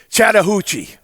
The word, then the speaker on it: Chattahoochee: You are born and raised in Chattahoochee. And did I pronounce it correctly?